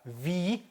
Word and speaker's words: wie: 자, wie, 이하고 에 길게 발음하면 wie geht, 그쵸?